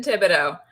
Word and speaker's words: Thibodeau: You see, you're not pronouncing the H, so it's like I was about to be like Yes, Thibodeau. it's French, so we like to hide those Mhm. consonants in there.